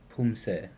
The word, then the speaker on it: Poomsae: And like I said in the introduction, there are two kinds of Poomse, which is pronounced the same way, but it's written slightly different.